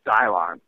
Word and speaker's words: Dylan: last safarian dude uh Dylon. His name was spelled Dylan, but he pronounced it Dylon.